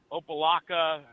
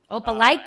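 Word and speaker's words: Opelika: head to and if I say this town's name wrong, I apologize to anyone that lives there. Opaaka. Opaikica, Alabama.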